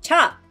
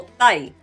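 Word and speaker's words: 茶: Las pronunciaciones son cha o tai.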